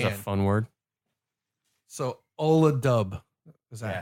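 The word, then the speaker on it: Ola Dubh: So Ola Dub. Is that Yeah. how it's pronounced?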